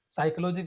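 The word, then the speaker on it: psychology: जैसे हम बोलते हैं नॉलेज तो इसमें के से स्पेलिंग बन रहा है। साइकोलॉजी की इंस्पायरिंग साइकोलॉजी जब हम बोल रहे तो पी से बन रहा है।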